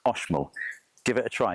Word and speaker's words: Oxmul: It's spelled Oxmol coffee, but it's pronounced Oshol.